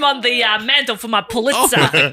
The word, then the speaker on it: Pulitzer: The Pulitzer. How do you say it? That's correct. That's right. Yeah, but not the What did you say? The Pulitzer. Pulitzer.